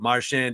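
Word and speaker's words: Marchand: rest of the way but he said it's it's been back and forth but marshand is right I'm going with marshand the rest of his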